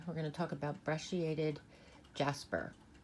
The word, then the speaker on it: brecciated: We're going to talk about brecciated jasper. It can also be pronounced brecciated.